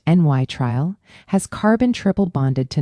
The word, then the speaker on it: nitrile: A nitrile, pronounced n y trial, has carbon triple bonded to nitrogen.